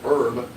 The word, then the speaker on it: herb: Honey, it's not herb. Herb is something you cook with. It's herb. Herb? Okay, Herb. Jeez. Because you spell them the same way. Herb, and you don't pronounce the H.